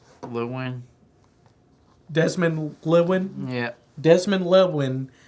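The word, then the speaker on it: Llewelyn: Lewin.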